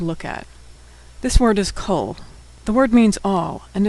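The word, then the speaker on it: kol: Now usually a comet makes an a sound but in the word cole it makes an o sound.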